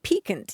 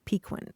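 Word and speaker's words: piquant: we were talking about the word peakant you used it a couple of weeks ago and uh and I had always heard it pronounced pequin and so here at this point of your life you're ready to make the change to the proper pronunciation well I did find that in one dictionary the Miriam Webster it's the third third pronunciation they offer and but you know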